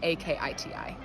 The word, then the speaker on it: Akiti: so it's my name k-o-r-l-e-k last name a-k-i-t-i oh no spaces space between my first and